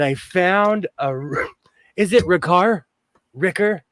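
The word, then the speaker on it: Rikr: According to Google, it's pronounced Ricker. Ricker. R-I-K-R, Ricker. Ricker.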